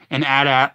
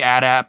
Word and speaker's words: AT-AT: And AT-AT, like, usually I say AT-AT, but sometimes I also say AT-AT. Both are right. You know, both AT-AT and AT-AT were used. They're both right. They're both totally valid.